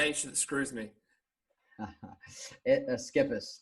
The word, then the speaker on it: Schepis: say ch screws me skippers just like it is skippers okay alright I swear I've heard somewhere it's pronounced like ship variations so yeah yeah